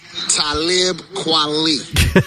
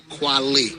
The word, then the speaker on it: Talib Kweli: Talib Kweli. So. Kweli.